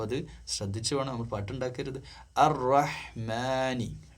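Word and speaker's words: الرحمن: അർ-റഹ്മാനി, മാനി, മനിയല്ല മാനി.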